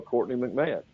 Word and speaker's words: Courtney McMahon: Say hello to Courtney McMahon. Did I pronounce that right?